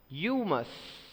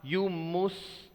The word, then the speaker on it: humus: I already informed you it is not humus, because mus you try to pronounce it as mus, but no, this is not the pronunciation here. It's mus. As you say bus, bus, similarly here mus is mus.